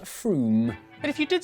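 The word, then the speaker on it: Frome: It's not fro. F r o m e. It should be blitheringly obvious is pronounced Froom.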